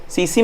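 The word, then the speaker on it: tsetse: यह सीसी मक्खी लिखते हैं, सीसी मक्खी बोलते हैं, और लिखते हैं टीसी। टी यहां पे साइलेंट है।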